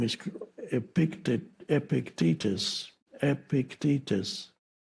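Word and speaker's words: Epictetus: Epictitus I used to say Epictitus and then I realized that stress the stress is on the second syllable. Epictitus. Epictitus.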